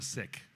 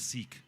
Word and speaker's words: Sikh: I was born a Sikh, also known as Sikh, if you want to mispronounce it.